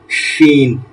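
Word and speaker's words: ش: সঙ্গে লাগবে সিন আর সিনটা হচ্ছে বাতাস বের হবে শিন শিন সিন শিন আপনাদের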